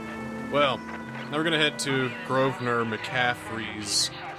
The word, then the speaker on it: Grosvenor: Grosvenor well it's pronounced Grosvenor it's Grosvenor but I want to call him Grover instead of gross venner so it's a silent s I need an address